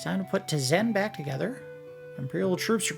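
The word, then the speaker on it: Tzen: Tizen spelled T-Z-E-B-N. The B is silent.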